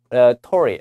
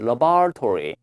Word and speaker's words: laboratory: 좀 유념을 하셔야 되겠는데, 미국식 발음이 일단 여기 가운데 O가 이런 묵음이에요. 그래서 lab, 그 다음에 여기가 laboratory, laboratory 이렇게 발음하는데 영국식 발음이 나왔거든요. 영국식 발음은 laboratory, laboratory, laboratory 두 가지 기억해 두십시오.